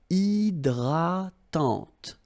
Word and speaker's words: hydratante: So remember, H is not existing, and then this Y is pronounced like E. Hydratante.